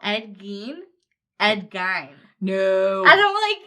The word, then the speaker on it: Gein: It's Ed Gein. It's not... Ed Gein. Is that Gein? Gein. Like... Gein. It's Gein. It's like Ramstein. Gein.